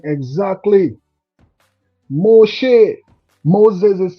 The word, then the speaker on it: Moshe: We are Desire saying exactly Moshe. Moses is saying good afternoon Delta. Pick up yourself Mos Moses and the Hebrew pronunciation. Moshe, thanks for tuning in and being a part of this live presentation.